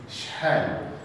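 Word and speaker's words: شحال: are you in English, it's shhal. This is the pronunciation of this word, is shhal. So you pay attention just here, because this letter is very difficult to pronounce for the English people.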